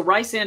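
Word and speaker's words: Rhysand: Rand as oh because in acatar is it RH y s n d yeah so Ry sand is Welsh actually it's just made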